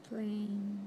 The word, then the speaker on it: flame: Skill 4 teaches that in most English words, a final E is silent, making the first vowel long.